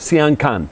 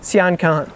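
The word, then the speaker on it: Sian Ka'an: Am I pronouncing that right? Sian Can. Sian Can.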